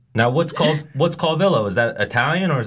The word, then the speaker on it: Calvillo: the Villo, that like I pronounce it, but Calvillo, Calvillo. Calvillo. It's Yeah, like it's yo, double like L, that. you That's loser. It is a double L.